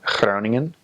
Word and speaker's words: Groningen: It doesn't have to be hyper pronounced. A lot of new missionaries come out with a really G, and that's very North Hollands, and it's not necessarily recommended practice.